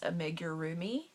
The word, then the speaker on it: Amigurumi: these dolls before but I believe how it's pronounced is a major roomie and they're generally 4